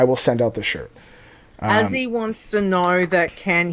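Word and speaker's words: Azee: If you're saying his name with the short form, it's Azzy. Okay? Yep. So it's Azzy with, A-Z-E-E. If you say it the full name, it's...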